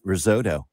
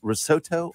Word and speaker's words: risotto: doing good is it risotto or risotto results you gotta you gotta say it like you know the language that it's it's from I mean it's Italian hold on a second